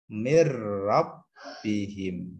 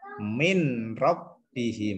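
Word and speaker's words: مِن رَّبِّهِم: Cara membacanya adalah mirrabbihim. Seperti itu. Mirrabbihim. Tidak boleh min rabbihim. Nah, ini salah. Atau mir rabbihim juga tidak boleh, tapi ditekan. Mir rabbihim.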